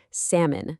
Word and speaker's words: salmon: It's salmon, not salmon. And what's really fascinating is that the L went silent ages ago in old French. But then centuries later, English scholars decided to add it back into the spelling to make it look more like its Latin root, salmo. So, the spelling changed, but how we say it, that stuck.